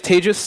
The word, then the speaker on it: Tejas: My name is Tejas. That's pronounced like the second half of contagious.